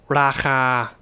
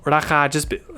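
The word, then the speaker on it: ราคา: But what often happens is when you're speaking quickly is with a two syllable word, which they're both long vowels. So if you have a long vowel together and it's the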